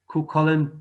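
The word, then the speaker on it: Cúchulainn: It's Kukollen.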